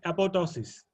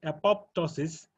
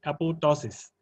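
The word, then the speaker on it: apoptosis: pronounce it it as apopto is uh but you know the the pronunciation uh includes a silent P the second p is silent so actual pronunciation is apotosis okay uh can anyone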